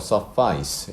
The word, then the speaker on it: suffice: 그리고 발음이 조금 달라지는데요. suffice 이렇게 발음이 된다.